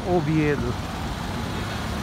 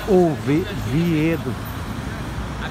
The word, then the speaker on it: Oviedo: Oviedo, se diz em espanhol, Oviedo. É? Em português pode ser Oviedo. Oviedo. A pronúncia é V. Em espanhol é Oviedo. Oviedo.